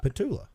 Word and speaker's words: Petulla: how do you say the last name Pula patula you've been on my personal podcast I have